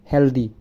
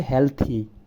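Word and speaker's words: healthy: আমরা বলি হেলদি, এটা হচ্ছে হেলথি।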